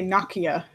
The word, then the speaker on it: Nokia: work for Microsoft and they made us say Nakia because it's tough they'll make fun of you if you pronounce it wrong because their finish but yeah so room